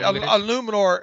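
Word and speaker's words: Eluemunor: How do you pronounce his last name? I think it's Jermaine Illuminor. Right, Illuminor.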